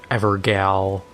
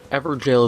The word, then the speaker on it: Evergaol: of people mispronounce it ever gal and stuff like that it's evergel is a very old way of saying it or at least the spelling gaol all right so we